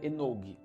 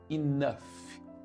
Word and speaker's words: enough: Se a gente fosse ler como se fosse português, seria enog, certo? Mas ela não é enog, ela é enough.